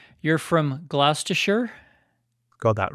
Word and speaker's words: Gloucestershire: Well, here's the part I'm going to pronounce wrong. You're from Gloucestershire?